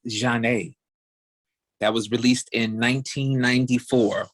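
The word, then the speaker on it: Zhané: about all right so it's janae's pronounced john a that was released in 1994.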